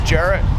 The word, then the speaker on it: Jarrett: specifics my name is Jarrett that's spelled j a r r e t t like the carrot it's a gloomy rainy